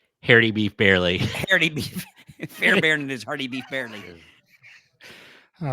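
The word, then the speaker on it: Fairbairn: pronounced yes it is it's notar it's it's fair Baron that's that's the way it's pronounced because it looks like it would be fairb barn but it's pronounced Fair Baron right Fair be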